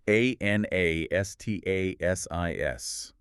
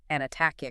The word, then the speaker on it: Anastasis: If you attempt to pronounce it with a hard English C, you end up with Anatacic, which is meaningless.